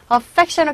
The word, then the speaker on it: affectionate: 발음하실 때 affectionate 강세 여기 있고요. ate가 아니라 ut로 발음하셔야 됩니다.